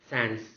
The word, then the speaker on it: sans: I underline only the first letter S, it's because the last letter S in the transcription should be pronounced as z, z. Hence the pronunciation sans, sans.